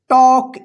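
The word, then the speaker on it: talk: देखिए यहां पे के से पहले एल आया है ना, तो यहां पे जो है ना एल साइलेंट रहेगा, उच्चारण नहीं होगा, इसको टॉल्क मत पढ़िएगा।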